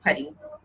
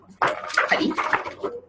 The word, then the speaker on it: Paddie: I said my name is Padebi, but you can call me Paddy. That's spelled Paddie. Paddy.